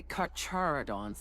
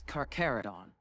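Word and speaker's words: Carcharodon: There's several of them like how the pronunciation is supposed to go. But uh like some say Karodons as well, but it's Carerodon.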